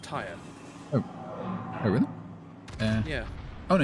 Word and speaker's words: Tyre: Most people will pronounce that tier, right? I have. In documentaries, I've always heard it pronounced tire.